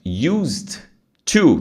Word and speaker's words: used to: para vocês de pronúncia quando você tem dois sons que você elimina o primeiro encaixa o sego ou seja usea assim ó used to tem que falar bem pausado né used to vira